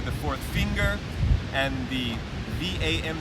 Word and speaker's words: vam: And the sound, or the bjAm mudra, that root sound, that simple single syllable utterance, is VAM, V-A-M.